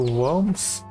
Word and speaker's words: Worms: Frankfurt am Main to Worms. Yeah, the name is very funny, but it's actually not pronounced Worms, it's pronounced Worm.